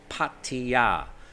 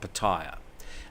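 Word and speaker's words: Pattaya: on P patea Beach Patia Patia that's how you pronounce it not ptia uh Tony hatsy Tony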